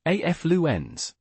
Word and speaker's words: affluence: So a f lu ends. Got it? The F sound is clear and distinct. And the O sound is long, ends at the end, a soft, quick finish.